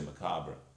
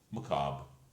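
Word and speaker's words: macabre: nod at the r if you look in British dictionaries the r is there first I'm not telling you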